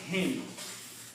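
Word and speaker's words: عليهم: We just, for the ease of the pronunciation, we pronounce this kasra. Originally the word was dhamma here, home. In many other places you will see home, but here it is him.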